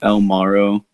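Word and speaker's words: 3L Maro: little group, called ourselves El Maro. L is spelled with a 3, so it's like 3L, and then Maro's Maro.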